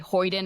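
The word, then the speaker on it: hoyden: Um, and so yeah, a rake rake is just a type of and I used the word hyden earlier. That's another stock character. A hydon is a boisterous young woman.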